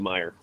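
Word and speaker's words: Meijer: and three Myers and now my Meer is different than Australia Meer yeah yeah it's spelled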